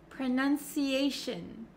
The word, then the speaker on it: pronunciation: but for pronunciation and any word almost that ends in t i o n we actually pronounce it as Shin Shin so you can see my mouth is not opening like an o sound pronunciation pronunciation okay that goes for station visitation cooperation all of these words end in Shin Shin you don't have to make it harder than it already is okay and then let's look